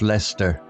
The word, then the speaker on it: Leicester: Lady Hermione agreed it would be splendid adventure with a map marked with peculiar names like Lester pronounced Lester and Gloucester pronounced Gloucester.